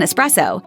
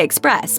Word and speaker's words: espresso: There's no X in espresso. In English, we say express, but in the Italian version of the word, the X is an S.